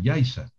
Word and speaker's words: Yaiza: que es más yo diría que pronunciar guacimara com con zeta o yaiza con zeta o naucet con zeta es un error un grave error porque son nombres propios